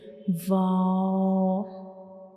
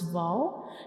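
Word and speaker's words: واو: Without touching the both lips completely, only we will make a circle to pronounce vow, like vow, vow.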